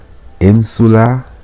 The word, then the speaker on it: insula: So syllaba prima, in, secunda, su, tertia, la. That's the 3 syllables. The first syllable, in. The second syllable, su. The third syllable, la.